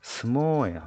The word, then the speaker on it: 相撲: 映画 애가 자 스모우라고 적혀 있는데 실제 발음은 相撲 스모예요.